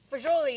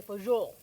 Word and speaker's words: fagioli: So how do you pronounce it? Well, fagioli is what I usually say, but then when I Googled, I think Italians say fagioli.